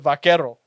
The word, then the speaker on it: vaquero: She said that the word buckaroo Okay. comes from the word vaquero. No way. Just mispronounced. Yeah, Hey, listen here, Bucker.